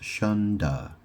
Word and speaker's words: Shunde: It's spelled Shunde, but it's pronounced Shunda. As in, da is a way of saying dad. So basically it's like saying shun dad.